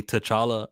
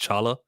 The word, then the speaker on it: T'Challa: Anyways, I saw actually related to apostrophes that T'Challa's name isn't really T'Challa. It's supposed to be just Chala.